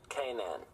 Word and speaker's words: Canaan: The name of the mountain comes from Canaan in the Bible and is pronounced Canaan.